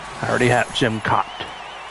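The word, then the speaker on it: Jim Kaat: I already have Jim Cott. It's not pronounced cat, it's Cott.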